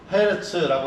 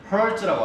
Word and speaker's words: 헤르츠: 그래서 헤르츠라고 하고요. 요거를 헤르츠라고 하지 않고 여러분 그러니까 미국식 라디오나 이런 것들 들으면 헐츠라고 합니다. 헐츠.